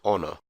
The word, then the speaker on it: honor: The letter H can also be pronounced silently, as in honor.